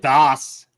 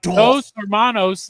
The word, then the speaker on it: Dos Hermanos: It's not Das. It's 2 brothers. It's not German. It's not like Dos Hermanos means 2 brothers.